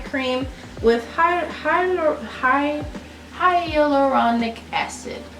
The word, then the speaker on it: hyaluronic acid: with high highly high hyaluronic acid you're probably saying that wrong google helped me out here hyaluronic acid that's how you say it so uh yeah